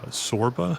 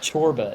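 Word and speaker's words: Csorba: Uh Sorba, I think that's how you're saying it. Yeah. Chorba. Chorba. Gotcha. I'm on it now. But it's it's spelled like Sorba. It's like CS.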